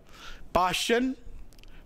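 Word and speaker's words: Paschen: और इसी तरह देखिए पासन ब्रैकेट फंड इसको पी साइलेंट है इसमें तो पाश्चन में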